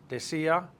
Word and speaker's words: decía: For decir, just take the IR off and add the ER, IR imperfect ending, which is ia, accent on the I to break up the diphthong. Let's roll it. Decía, decías, decía, decíamos, decían.